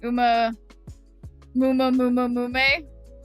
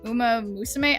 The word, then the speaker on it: Uma Musume: It's pronounced Uma Mume. Got it. And hey there, KP Birdman. Isn't it Uma Musume? I swear it didn't have that many.